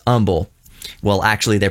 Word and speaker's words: Humble: from delorean motor company here in houston technically humble those of you who are not from houston